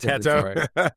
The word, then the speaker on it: Teto: It's pronounced the same. That's why it's Teto.